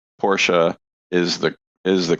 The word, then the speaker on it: Porsche: not correct I mean it is a two- syllable word if you go with the German pronunciation and if you listen to the folks from Germany they always say Porsche and the Porsche family